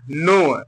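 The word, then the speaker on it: know: knife knife माने चाकू यहां पर क्या के साइलेंट हो गया तो एन ओ डब्लू क्या पढ़ा नो क्या पढ़ेंगे नो एन ओ यू नो पढ़ेंगे इसको नो माने जानना यहां पर देखिए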